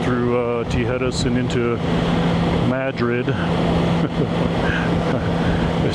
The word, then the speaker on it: Madrid: But that little town is known to be Madrid. Like you're saying Mad Rid Madrid, which is uh I don't know. People like my mom would say that's not how you say it. That's how the Texans say it. So I tend to go with what the locals call it, Madrid.